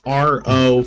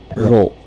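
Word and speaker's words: ろ: It's like ro, ro. Ro, ro. Yeah, ro. Like how you row a boat. It's basically like that.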